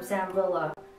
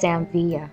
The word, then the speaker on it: Sam Villa: And I got this technique from Sam Villa. Correction, I apologize. It's pronounced Samvia.